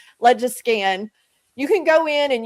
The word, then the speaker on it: LegiScan: So this is a website called, I call it Legiscan. People pronounce it differently. This may just be my Okie accent coming up, but I call it Legiscan.